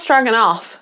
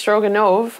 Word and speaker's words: Stroganov: and so this is stroganoff i'm hoping i'm saying that right stroganoff it's not struggling off it ends with a v so it's stroganov i've been trying to